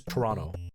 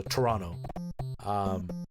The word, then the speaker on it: Toronto: to say it is Toronto you don't pronounce the second T you just pronounce it as an N so Toronto that is how it's